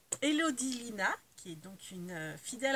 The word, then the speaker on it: Lina: a une chaîne donc c'est Elodie comme le prénom Lina comme ça se prononce